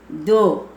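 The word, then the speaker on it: दो: ஏ க ஏக்கு ஒன் தோ தோ டூ டூ தோ இந்த தோ இருந்து தோன்னு சொல்லக்கூடாது தோன்னுதான் சொல்லணும் இந்த இடத்துல இங்க உச்சரி பாத்தா டூன்னு இருக்கு நம்ம டூன்னு சொல்லக்கூடாது தோ தோ டூ தீன்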